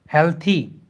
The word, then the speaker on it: healthy: हेल्दी word नहीं है, ठीक है. हेल्थी, वेल्थी, इन सारी चीज़ों को सुधारना है. So these words are नॉट हेल्दी वेल्दी, they are हेल्थी, वेल्थी.